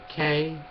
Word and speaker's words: Krasnoyarsk: Uh, and she was in Krasnoyarsk, if I'm pronouncing that correctly. It is Krasnoyarsk.